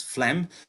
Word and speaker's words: phlegm: the last one is a quite a peculiar word with a different type of pronunciation compared to the spelling that's phlegm which is an umbrella